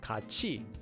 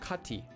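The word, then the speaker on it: 같이: Example, this word would be pronounced as kachi and not kati.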